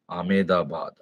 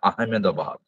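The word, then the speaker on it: Ahmedabad: কি হবে আমেদাবাদ আমেদাবাদ আমেদাবাদ বাহ very good আমেদাবাদ আহমেদ actually উচ্চারণটা হয় আহমেদাবাদ আহমেদাবাদ বি এডি ঠিক আছে নেক্সট ইন্দিরা গান্ধী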